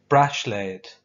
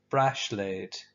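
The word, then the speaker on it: bráisléad: one is a bracelet brush laid it sounds quite a bit like the english brush laid say it with me brush laid a ring on ya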